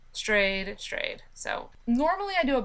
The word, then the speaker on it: Strayed: it's spelled like stade but I'm sure it's pronounced strayed or something nope it's stray strayed stray strayed so normally I do a book recap and